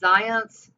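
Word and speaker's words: Zajonc: it just happens and those two theorists are zions yes that's how it's pronounced and ladue on the other hand lazarus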